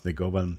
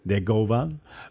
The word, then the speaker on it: Negovan: Negovan. I have to be careful not to pronounce it always in the European way.